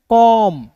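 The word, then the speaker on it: comb: ओ का उच्चारण औ के रूप में और देखिए एम और बी है तो बी साइलेंट हो जाएगा। तो एम का म तो क्या हो जाएगा दोस्तों? कॉम क्या हो जाएगा?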